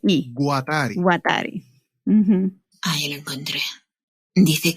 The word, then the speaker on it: Guattari: resalta el libro de las tres ecología de watari que presenta una postura fin con la ecosofía